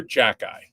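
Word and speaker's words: Xhekaj: name for the Canadians is Arbor Jacky that's how you say I don't know how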